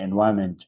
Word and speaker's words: environment: So N is silent here, so we can easily say environment.